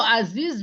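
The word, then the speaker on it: أزيز: Qauluhu aziz bifathin fakasr. Aziz tuh betul bacanya.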